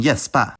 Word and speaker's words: gäspa: In native Swedish words, before any front vowel, K is pronounced [ɕ], like in kött, and G is pronounced [j], like in gäspa.